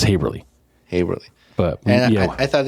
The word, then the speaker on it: Haverly: how to pronounce haverly, so they rhymed with neighborly, like neighborly, haverly. So the kids would, the younger kids would realize, because some people I think pronounce it Haberl or Haberly or something like that, but it's Haverly.